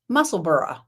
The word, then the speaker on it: Musselburgh: Apparently Isolde is from Edinburgh, and this is pronounced Musselburgh.